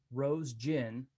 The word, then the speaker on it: Roesgen: I want to thank again my guests, Kate Roesgen and Ed Roesgen. Again, that's pronounced Rose Gin, like rose flavored gin.